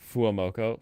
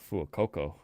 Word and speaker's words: Fuecoco: Fuamoko. Fuamoko sounds like the new fire starter. Fuecoco. Fuecoco. Fuecoco. How do they spell it?